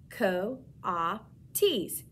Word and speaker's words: coatis: or a raccoony dogs these are kawatis miss brisbane said reading from her letter pronounced like ko ah ts kawates of course i